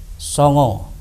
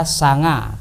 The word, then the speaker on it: Songo: Anak-anakku sekalian, Wali Songo adalah terdiri dari dua kata, yaitu dari kata wali dan songo. Kalau orang Indonesia sanga, tapi kalau orang Jawa bacanya songo.